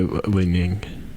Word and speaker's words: Li-Ning: How do you say Li-Ning?